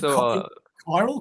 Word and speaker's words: Chiral: going on here with your Instagram who is kyal Comics yep again perfect pronunciation yeah KIRO Comics so I I name it KY Comics